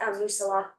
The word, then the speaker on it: Moosilauke: Yeah, just because so many of our members have been super looking forward to that, Moosilauke.